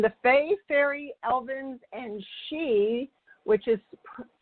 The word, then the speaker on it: Sidhe: As you know, it's Marilyn at Super Soul Solutions, and the Fae, Fairy Elvens, and She, which is spelled Sidhe, and I would like to personally thank you for joining in today.